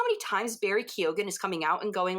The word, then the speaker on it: Keoghan: I say Keegan, but I could be wrong. I just look at it and I try to pronounce it with an Irish accent and I go, it's Barry Keoghan.